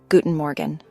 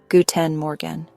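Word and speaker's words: Guten Morgen: If you're greeting someone in the morning, you would say Guten Morgan. This means good morning. Guten Morgan. The R in Morgan is soft, almost like a gentle gargle in the back of your throat.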